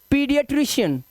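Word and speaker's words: pediatrician: देखो कह रहा है एई का मुख्य उच्चारण ई होता है ई मतलब लॉन्ग वाउल साउंड तो इसे क्या पढ़ेंगे इजेज इसे पढ़ेंगे एस्थेटिक क्या पढ़ेंगे एस्थेटिक और इसे क्या पढ़ेंगे पीडियाट्रिशियन पीडियाट्रिशियन ठीक है पीडियाट्रिशियन ना कि पी ए दिखाई दे तो आप पा कर दो इसको तो ये पीडियाट्र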